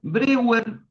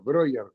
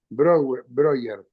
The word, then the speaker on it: Breuer: el Ahora te voy a preguntar con Broer Brewer. Ahora vos me vas a decir, pero antes que todo muchísimas gracias por tomarte el tiempito de charlar un rato acá. Por supuesto, Broer. Broer se pronuncia Broer.